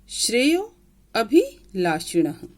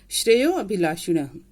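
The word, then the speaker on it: श्रेयोऽभिलाषिणः: श्रेयो अभिलाषिणः, ये जो एस जैसा साइन बना है ना बीच में, इसे हम अ का उच्चारण देते हैं। श्रेयो अभिलाषिणः अर्थात श्रेय का मतलब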